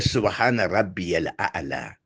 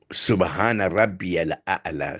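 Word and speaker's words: سبحان ربي الأعلى: C'est Subhana Rabbi al-A'la. Rabbi al-A'la. Subhana Rabbi al-A'la. C'est comme ça qu'il faut prononcer.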